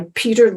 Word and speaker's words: Petr: little book called The End of Procrastination by Petr Ludwig, and Peter is spelled P-E-T-R.